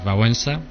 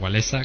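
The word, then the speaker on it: Wałęsa: es la película de vensa o walesa como pronuncian aquí que que todavía sigue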